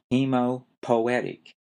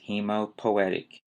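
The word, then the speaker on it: hemopoietic: for creating blood cells and that term is hemopoetic h e m o p o i e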